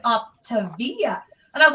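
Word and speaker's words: Optavia: i was like it looks like it says up to via and i was like oh my god is that how it's pronounced i was like why does it look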